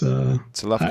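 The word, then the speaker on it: צלפחד: So it's Salafchad. I don't know how to say it. I don't know how to say it other than in Hebrew. It's Salafchad. So for those people that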